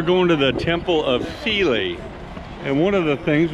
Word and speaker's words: Philae: So as I said before, we're heading to the Philae, it's spelled P-H-I-L-A-E, temple.